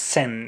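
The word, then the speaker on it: 千: i started learning japanese thousand in japanese is pronounced sen and hundred in portuguese my native language also pronounced sen oh i didn't know of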